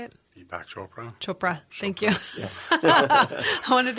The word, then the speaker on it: Deepak Chopra: it'll change enough people's minds that's so wonderful Deepak choa right is that deep yeah how do you say it Deepak Chopra Chopra thank you I wanted to say shopin